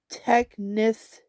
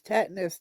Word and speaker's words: tetanus: But it is a tetness. See the even got me saying it wrong. Tetness shot. Lori tetanas. Tetanas. Tetanus.